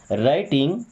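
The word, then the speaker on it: writing: she means वह राइटिंग देखिए W silent है राइटिंग मींस लिख रही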